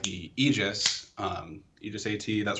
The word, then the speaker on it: Aegis: aegis how do you say it properly uh aegis all right yeah all right all right well